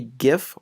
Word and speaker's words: GIF: other in the category a gif or a Jeff again depending on where and how you pronounce it the compression size is